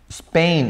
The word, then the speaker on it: Spain: cambia england perdón english spain esto es una sola sílaba no son dos sílabas